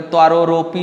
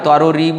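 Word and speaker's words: তরোরিব: দেখুন শ্রী চৈতন্য মহাপ্রভুর এই যে শ্লোক, এখানে তৃতীয় শ্লোকে অনেকে উচ্চারণ করে তররপি সহিষ্ণু না, তররপি নয়, তররিব সহিষ্ণু না।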